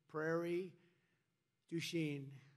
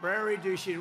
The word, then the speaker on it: Prairie du Chien: So we're here today in Prairie Du Chien. Is that a good? Yeah. Good pronunciation.